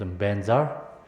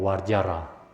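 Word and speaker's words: vajra: Benzar Tibetan pronunciations benzar but Sanskrit is called wajara.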